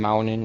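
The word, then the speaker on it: Muninn: instance, like Odin's ravens, Hugin and Mugen, or Hounin and Maunin, if you want to pronounce it technically.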